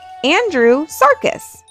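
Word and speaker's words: Andrewsarchus: Andrew Sarcus.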